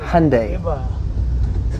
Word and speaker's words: Hyundai: No, it's pronounced Hyundai.